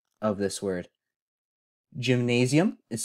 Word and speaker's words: gymnasium: We have gy, as in gyroscope. Mina, as in insomnia. As in pizza. C, as in the Spanish yes. As in Therefore, it's pronounced gymnasium.